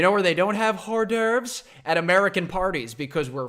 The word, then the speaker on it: hors d'oeuvres: I get that wrong it's French right Oh hor d'oeuvres h ors space D ' oh e UV